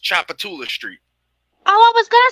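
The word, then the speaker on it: Tchoupitoulas: It probably doesn't even say half the letters that's in the word. Okay. I'm gonna tell you now. That's pronounced Chapatula Street.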